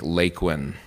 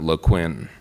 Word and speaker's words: Laquin: So they created the name of this new town by taking 2 letters out of Barclay and 4 letters out of Quinn and putting them together to make LAQUIN, not LAQUIN. It's not a French word, ladies and gentlemen.